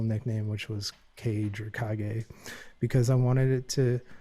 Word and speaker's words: Kage: So we didn't really touch base upon the techno and house stuff I do, which is my other name, Kage with a K. It's pronounced Kage.